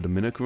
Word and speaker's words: Dominica: names look the same they're actually pronounced differently with Dominicans from the Dominican Republic the me syllable is stressed while Dominicans from Dominica